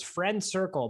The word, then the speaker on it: FRNDCRCL: Dan, you're going to love the name because it's Friend Circle, but it's spelled FRNDCRCL.